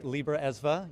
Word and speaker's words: Libra Esva: Yeah, there is a lot of history around that, and thank you for pronouncing it correctly, Libra ESVA.